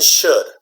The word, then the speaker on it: should: talk about the pronunciation those ELLs are silent okay there's you know don't pronounce them okay it's good like